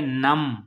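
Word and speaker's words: numb: आगे नम, नम, नम में B silent है।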